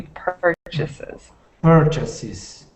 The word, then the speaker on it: purchases: the first one was purchases so remember that stress is on the first syllable it should be purchas purchases perfect and the next